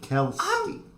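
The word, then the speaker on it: Kelske: Bobby Kelsky. That's how you say it. Kelsky.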